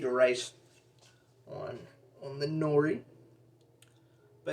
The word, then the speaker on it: nori: like a sheet of rice on on the nori but it's actually pronounced no lee because they don't use the r in [